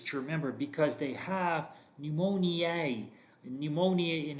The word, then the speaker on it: pneumoniae: remember because they have pneumoniae pneumonia in its in their names meaning that they cause pneumonia notice that e at the end so it's not pneumonia it's pneumonia yeah and different pronunciations so pneumoniae trap to caucus streptococcus